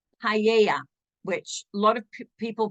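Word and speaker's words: paella: famous dance um then we have something called paa which a lot of people pronounce Pella it's p AE l l e paa and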